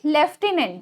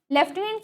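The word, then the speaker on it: lieutenant: लेफ्टिनेंट की spelling होती है एल आई ई यू टी ई एन ए एन टी। ठीक है? लेफ्टिनेंट। यहां पे देखिए प्रोनाउंस करने पे हम एफ फ का यूज कर रहे हैं। ठीक है? लेकिन इसमें एफ नहीं है कहीं भी। तो इसको देखिए ध्यान दीजिएगा।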